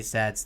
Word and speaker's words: says: we have to improve almost everybody says this you know S-A-Y as say not say we say says S-A-Y-S he says she says okay so what he says